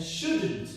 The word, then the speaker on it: shouldn't: And shouldn't also, you stress the first syllable should.